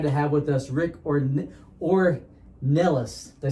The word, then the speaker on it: Ornelas: i'm really excited to have with us rick or or nellis did i say that right yes you did